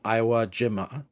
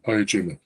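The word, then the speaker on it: Iwo Jima: The Japanese also admit that hair severs a former SS archaeologist is uh now working in Iowa Jima Iowa Jima I can never pronounce that Ayajima Ayajima thank you uh and they are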